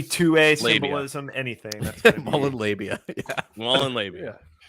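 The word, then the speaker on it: Molon Labe: Mullen Labe? Gadsden. Yeah, the Gadsden flag is the one with of the them. cannon and the star. Right there. Yeah. Yeah, that's Mullen Labe.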